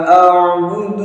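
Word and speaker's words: أَعْبُدُ: Hati-hati saat membaca a'budu. Ini kalau kurang fokus bisa jadi bacanya la a'budu dengan mengganti ain dengan hamzah. Nah, ini kurang tepat. Namun gimana? la a'budu. Nah, harus dilatih.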